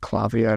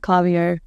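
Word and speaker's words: Klaviyo: data um you suggested is it clavio that's it clavio well I think we pronounce it clavio but it's it's an American software um so then kind of when I've had conversations they say clavio so I think it's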